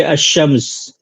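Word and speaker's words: الشمس: शी से मिलाकर के अशम्स या अशफा तो ये अलिफ लाम साइलेंट होता है यहां पे तो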